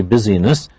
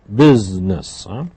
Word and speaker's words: business: business please notice that this comes from the word busy withness but it has a special pronunciation we don't say business we say business and he does a